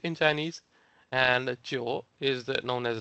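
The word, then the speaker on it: 九: If you take a look at their character, the Chinese character for number 9, which is pronounced as Chio, it is like shaped in a similar way.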